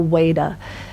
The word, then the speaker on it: Veda: one exception which is a V which pronounced vert or what this is why I have Swami or Veda which could be pronounced Veda or waiter so if we say